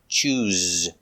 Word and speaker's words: choose: needs to choose pronunciation use the zebra z sound with vibration z choose he needs to choose